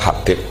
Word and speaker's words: Habib: Itu di harokatnya kitab itu ada yang nulis Hubab. Yang benar, oh enggak, yang benar itu bacanya Habib. Habib itu As-Sulami itu ikut marga Robi'ah.